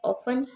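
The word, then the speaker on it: often: ऑफन, इसमें T silent है।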